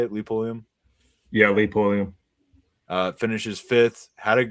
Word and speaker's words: Pulliam: Yeah, Lee Pulliam.